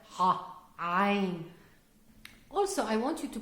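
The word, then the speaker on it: عين: And this is the second bonus today that I'm going to teach you how to pronounce properly the Arabic letter ah. Ain.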